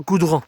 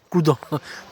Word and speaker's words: Coudon: le mot cou donc c'est le mot couon pas Coudron couon je pas c'est comme ça que ça se prononce donc une balade de